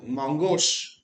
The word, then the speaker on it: Mongosh: तो Mongosh, इसको आप कैसे प्रोनाउंसिएशन करेंगे?